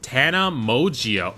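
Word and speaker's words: Tana Mongeau: It's pronounced Tana Mogio.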